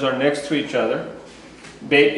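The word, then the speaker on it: בית: next to each other bit is the B sound it's actually a b or a v depending on whether it's got what it's called a d a mark in the middle makes it a b hard you take the dot out and it becomes soft v these it come loud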